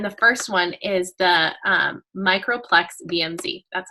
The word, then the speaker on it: Microplex VMz: from doTERRA, and the first one is the Microplex VMZ.